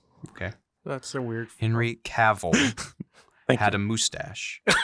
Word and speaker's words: Cavill: Well, Cavill sounds like navel, so it sounds Okay. weird to me. Well, yeah. Okay. That's a weird. Henry Cavill Thank had you.